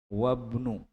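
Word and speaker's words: وابنُ: paham ya wnu yasirin wabnu jadi banya wabnu bacanya Ya karena ada yang mendahuluinya Hamzah wasinya tidak terbaca wnu yasirin tajirun dan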